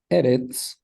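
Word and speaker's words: ארץ: But eretz is one of the exceptions, and the stress is on the first syllable.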